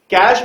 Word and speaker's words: cache: तो इस वीडियो के माध्यम से सबसे पहले तो मैं यहां पर ये करेक्शन चाहूंगा कि उसको आप कैचे नहीं, उसको आप कैश मेमोरी बोले तो ज्यादा बेहतर रहेगा।